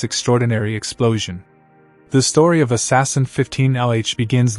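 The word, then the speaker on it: ASAS-SN: That day, the all sky automated survey for supernovi or azasen, pronounced assassin, detected a new point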